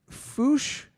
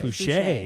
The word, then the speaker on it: Fouché: Addis, is it Fouche or Fouché? Fouché. Is there an accent aigu that I'm missing? There's an accent on the E.